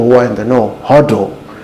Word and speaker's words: HODL: are in the know huddle um it's it's an indoor joke for a while it's an inside joke for people who do cryptocurrencies it's just spelling hold the wrong way so how do they